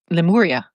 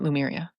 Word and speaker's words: Lemuria: Lemuria, not Lumeria. Lumira, that's beautiful. I love it. I love it. And P.S. Oh, I got to remind me to talk about Lemuria and my Lemurian wand that got eaten up by the ocean.